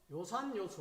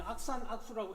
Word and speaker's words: 요산요수: 그 다음에 세 번째는 좋아할 요, 이 좋아할 요는 요산요수 할 때 요산요수, 이는 악산악수라고 읽으면 안 됩니다. 요산요수, 즐길 요자, 이때는 요자로 읽습니다. 그래서 이 악을 갖다가 풍류할